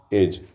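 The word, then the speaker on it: edge: इधर तोसे ई ई डी जी ई इसमें डी साइलेंट है एज इसको क्या पढ़ेंगे जज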